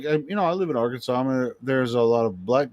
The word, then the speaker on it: Arkansas: I have to worry about theirs but you pronounce it Arkansas or Aransas no it's Arkansas that's the way I mean it's it's an